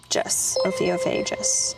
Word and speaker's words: Ophiophagus: Ophiophagus. Ophiophagous. That's how you say it.